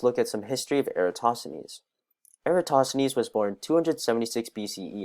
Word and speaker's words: Eratosthenes: discuss basic concepts the sieve of eratosthenes is pronounced sieve of eratosthenes a prime number which is very important is